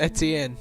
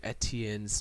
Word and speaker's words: Etienne: Put the pronunciation of Etienne.